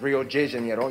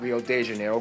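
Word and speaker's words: Rio de Janeiro: that's right it's pronounced Rio Jano not Rio Deo get it right we're not in Mexico this is Portuguese not Spanish this was done in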